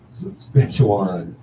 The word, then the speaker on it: Saskatchewan: Saskatchewan.